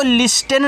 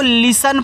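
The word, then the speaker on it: listen: एस टी इ एन देखो इसको लिस्टेन नहीं पढ़ना इसको लिसन पढ़ना है यहां टी आपका साइलेंट रहता है तो एल से आपका ला आई से छोटी टी की मानता है ली।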